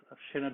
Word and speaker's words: Sinéad: And we also have Sinéad, sorry if I mispronounced your name, who is in charge of safety at Aireon.